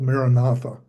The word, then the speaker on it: Maranatha: It was called Maranatha. And I break it into 4 or 5 syllables, ma, ra, na, tha.